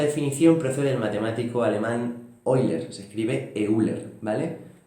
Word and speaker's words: Euler: libro que esta definición procede del matemático alemán oilers se escribe euler vale y pueden concluir una frase